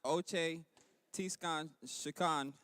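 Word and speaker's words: Očhéthi Šakówiŋ: traditional unceded land of oti squad pronounced ochei khan kiowa and the osage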